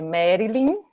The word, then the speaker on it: Merlin: realmente é difícil mas se escreve mar mas se fala merda é Merlin é difícil mesmo mas sem